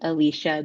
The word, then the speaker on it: Elisha: It is pronounced Alicia, but it is uh phonetically Elisha.